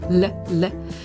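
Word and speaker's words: l': The L apostrophe is pronounced le, and it is used when the word begins with a vowel.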